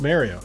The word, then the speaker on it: Mario: the Mario not Mario it's not pronounced Mario I don't care it's Mario if you pronounce it